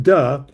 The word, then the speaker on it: Te: Uh Tay pronounced duh has also uh variously translated as integrity, virtue, character, honor, reason, best conduct.